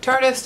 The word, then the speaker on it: Tarte: used the Tarte tardes some people call it tar deist cuz it's spelled like that but it's Chartist and then I used